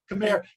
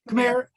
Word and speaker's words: Khmer: sorry what was the question how do you pronounce it proper way come here come here um yeah people in in uh worldwide pronounced